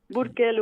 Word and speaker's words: Burkel: Burkel, oui, on prononce Burkel.